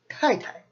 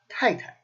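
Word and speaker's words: 太太: And that is Tai Tai. 4th, 5th. Tai Tai.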